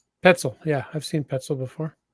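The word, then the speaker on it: Petzl: I I'm gonna assume it rhymes with pretzel and it's petzel petzel yeah I've seen petzel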